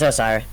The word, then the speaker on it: Osirrah: I believe this was asked by Osirrah. How do you want me to pronounce it? Yeah, it's Osirrah.